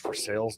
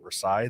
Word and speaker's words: Versailles: versailles by the way it is pronounced for sales not versailles they get very picky about that uh but that that